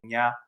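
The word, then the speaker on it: Nghi: one the one with we've had issues like trying to pronounce and n g h i ax uh pronunciation is going to be Nia and yeah both all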